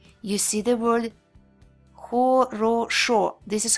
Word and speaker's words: хорошо: Хорошо. Хорошо. See, when vowels are unstressed, they change a little bit. When a vowel isn't stressed, it changes its sound. It's called vowel reduction.